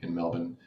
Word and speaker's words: Melbourne: i got to say it's pronounced melbourne melbourne how did i say it m-e-l-b-n melbourne melbourne melbourne i'm getting closer